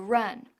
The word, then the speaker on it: run: Haz que run rime con fun y ran rime con man.